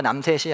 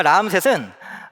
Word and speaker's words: 라암셋: 이 비돔과 라암셋, 이거 발음을 좀 잘 하셔야 되는데요. 비듬과 남셋이 아니고 역시 재미가 없네요. 비돔과 라암셋은 단지 곡식 저장소가 아니라 이집트 북동쪽에서 침략해오는 적들로부터 이집트를 보호하는 군사기지 역할을 했던 곳이기도 합니다.